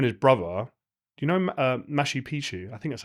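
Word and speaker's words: Machu Picchu: And he was telling me how him and his brother, do you know Mashi Picu? I think that's how you pronounce it. Yeah, Mashu Picchu.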